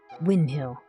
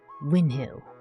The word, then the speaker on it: Winhill: Wind Hill, not wind. Win Hill.